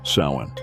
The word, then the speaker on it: Samhain: Halloween's origins date back to the ancient Celtic festival of Samhain, pronounced Samhain.